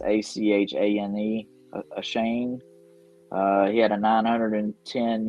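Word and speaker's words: Achane: the devon i don't even know how to pronounce his last name it's a-c-h-a-n-e a shane uh he had a 910 yards last year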